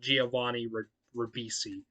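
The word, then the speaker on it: Giovanni Ribisi: who's a photographer and he's played by uh giovadi rabisi yeah i i had to look up his name because i i didn't know how to pronounce it but giovanni rabisi yeah um and she is also not happy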